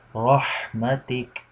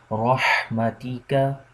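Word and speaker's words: رحمتك: The last one is rahmatik, or you can say rahmatika, rahmatika. If you stop, you can say rahmatik, rahmatik.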